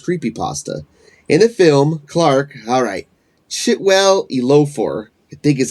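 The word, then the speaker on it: Chiwetel Ejiofor: In the film, Clark, Chitwell Elofor, I think is how it's pronounced, furniture store owner and his therapist Mary,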